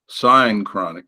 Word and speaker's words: synchronic: And then you said the other one was this synchronic. No, how do you pronounce that again?